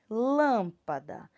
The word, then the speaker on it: lâmpada: eu tenho nessa palavra primeiro sílaba mais forte é lan e é isso lâmpada então qual é o acento que eu tenho eu botei o acento circunflexo porque olha um som saindo mais fechado da minha boca lâmpada e olha aqui